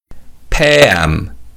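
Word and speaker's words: 폐암: Pam Pam in this word p means lungs and am means cancer and the vowel yeah weakens so it's pronounced like e.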